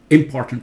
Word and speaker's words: important: not idea idea ok this one say it now listen important did not say important important sounds like impotent ok completely different world it's important this one no not industry listen here the u.s.